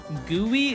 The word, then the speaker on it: GUI: Gooey is actually also an acceptable pronunciation.